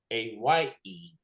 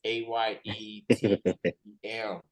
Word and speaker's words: AyeTeeM: AyeTeeM, and that is AyeTeeM. Yes, sir. Wow, it is pronounced after the thing that you go to get money off your cards and your accounts. It is AyeTeeM.